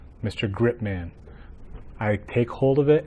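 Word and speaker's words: Gripe-man: it should be pronounced mr. grip man mr. grip man I take hold of it and I won't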